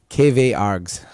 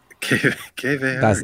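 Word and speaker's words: kwargs: I say KW-args. KW-args. That's just like saying KW in the German pronunciation, args.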